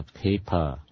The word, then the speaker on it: paper: Nhớ chữ âm P nha, cái này nó là P nha, chứ không phải B nha, nó là P. Yeah. P giống như là paper.